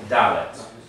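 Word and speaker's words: דלת: We always lean on the first syllable. So it's not what? It's not dalet. It's dalet.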